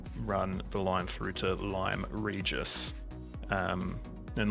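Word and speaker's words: Lyme Regis: we will actually run the line through to lime regis um and limery just is the correct pronunciation i looked it up after my last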